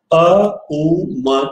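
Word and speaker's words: ॐ: यानी एक श्रृंखला में अ उ म का उच्चारण एक साथ करें। जैसे म का उच्चारण म नहीं करना है, अ उ म का उच्चारण।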